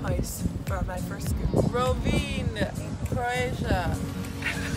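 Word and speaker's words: Rovinj: Rovin, Croatia. It's right? Spelled with a V and a J, but really you don't pronounce those syllables.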